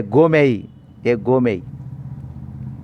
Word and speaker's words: gourmet: A gourmet. T is silent, R is silent.